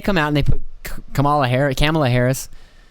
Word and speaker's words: Kamala: But then they come out and they put Kamala Harris.